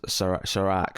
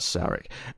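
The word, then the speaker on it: Serac: the brother, Sarek's brother, was Sarak. Sorry, not Sarek.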